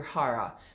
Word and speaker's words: hara: head your heart your hara so if you've ever heard the term uh harry kerry um that's just a mispronunciation of hara and your hara the